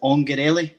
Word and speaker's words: Ongarelli: Is it Ongarelli? Is that right? Exactly. Yeah. Like with an Italian accent.